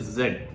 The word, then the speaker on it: z: Okay, so it says it should pronounce that, so Z should be pronounced like the DS sound in the word yards or kids.